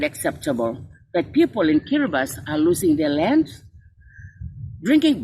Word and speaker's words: Kiribati: i was reminded that kiribati should not be pronounced as kiribati but rather as kiribati the only country that